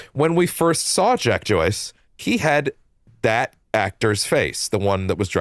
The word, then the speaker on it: Joyce: I thought he said Jack Choice, and I thought Jack Choice was a sick ass name for a time travel protagonist. It's actually Joyce, like J O Y C E.